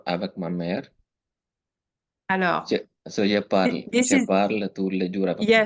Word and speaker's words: parle: So let's say the very last sound I should hear, it's the L sound. Je parle, le, that's the le.